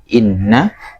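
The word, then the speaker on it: إنّا: Taib, coba ulangi dari inna. Qalu inna, nanya panjang ya.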